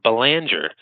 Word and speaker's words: Belanger: I live in Massachusetts, where we pronounce it Belanger. But when I'm in Canada or France, I do pronounce it Belanger because it's certainly a French name.